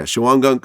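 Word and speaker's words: Shawangunk: getting sentenced in uh shawan gunk yeah am i pronouncing it right yeah yeah chihuan gunk uh correctional facility where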